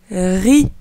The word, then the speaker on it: riz: Ensuite, RI. Ici, le Z ne se prononce pas. On prononce juste les lettres RI.